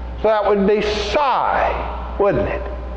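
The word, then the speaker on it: psi: name of that letter I'll spell it for you and then I'll say it it is P yes I and the P is silent so that would be sy wouldn't it it's not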